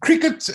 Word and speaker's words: Cricut: listen it's uh it's it's cricket as in the normal cricket game as i've been working